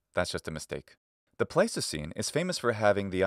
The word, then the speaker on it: Pleistocene: So it has the long E vowel, which in English comes to be pronounced I. So it should be written like this, Pleistocene, but doing so would